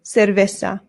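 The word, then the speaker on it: cerveza: Remember the C's in Spanish make a th sound, but the zeds do as well. So this isa and the v's in Spanish make a very light b sound.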